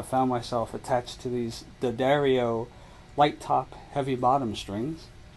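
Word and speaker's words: D'Addario: of years uh found myself attached to these Daario light top heavy bottom strings and yes it's apparently pronounced the Dario not Diario or or diodio or any of the other weird pronunciations that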